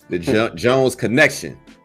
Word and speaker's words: The Jones Kenekshun: Let me make sure I'm pronouncing it right. The Jones Kenekshun.